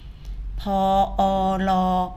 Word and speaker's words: พร: ไป เลย นะ คะ พรบ พร สังเกต คำ ว่า พร ออก เสียง สลัก ออ นะ คะ พอ พาน รอ เรือ ออก เสียง สระ ออ นะ คะ พรบ พร